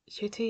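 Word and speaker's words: Ncuti: I've been saying his name wrong all this time, but now I can say it like properly. Hold on, I've got itchy back. Yes, so Shuti, you're gonna do a great job.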